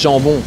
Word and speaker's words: jambon: Zambong in French is jambon.